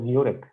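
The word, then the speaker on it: Jurek: this is urik this his name is pronounced as urik that's from what I've been able to gain in from meeting people Yu leowski he has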